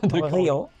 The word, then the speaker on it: Riho: Mais bon, donc simplement je dis que c'est comme Rio de Jano, Rio Rio, c'est suffisant.